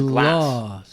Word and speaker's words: glass: For example, this word has a long vowel glass and it means glass. This word has a short a vowel glass and it means ice cream.